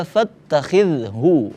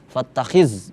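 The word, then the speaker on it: فَاتَّخِذْهُ: Huwa fattakhidhu, nah ini fattakhidh, huruf zal, pengucapannya jangan sampai jadi ketebalan. Fattakhiz, jangan, itu huruf za, tipis, za, fattakhidhu, hanya ha tebal, bukan ha.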